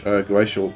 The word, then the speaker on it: Goetia: But the word Goetia, actually pronounced Goetia, is a Greek word.